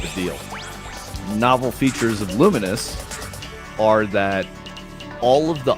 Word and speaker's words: Lumines: I'm pretty sure they are, but they came out saying like it's pronounced luminous.